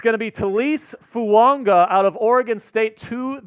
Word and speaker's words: Fuaga: pronunciation drama um so all of the pronunciation guides say fuaga say fuaga uh t fuaga yeah t and then at a senior B Ino he's like no it's it's Tois fua like how Tonga has the the invisible in